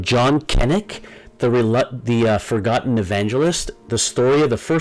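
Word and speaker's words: Cennick: It looks like maybe Sennick, but the author claims that you pronounce it actually Kennick.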